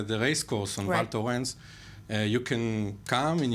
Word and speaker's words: Val Thorens: um V how do you say that name valto valto thank you in the French Alps with